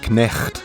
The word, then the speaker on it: knecht: Dutch equivalent of the word knight is knecht, meaning servant. Notice how in Dutch the K is pronounced.